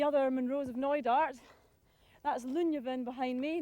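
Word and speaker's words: Luinne Bheinn: some of the other monroes of noidart that's lunya then behind me not pronounced looney been tempting as it may be to do so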